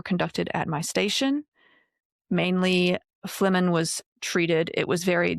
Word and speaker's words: phlegmon: It's spelled like phlegmon. So I'm like phlegmon, but it's phlegmon. It's like phlegm.